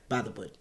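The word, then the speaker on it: Bythewood: wood by the wood is that really how you say it about by the wood you got to say it together like by the wood mm-hmm uh is a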